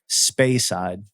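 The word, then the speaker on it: Speyside: know pronounce that again spay side s-p-e-y side space side like spay and neuter your that's weird yeah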